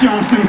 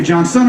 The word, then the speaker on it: Johnston: my name is Johnston Johnston easy name coordinates up almost unless of a ball my name is butchered constantly my last name Johnston people who say Johnson or Johnstone and my first name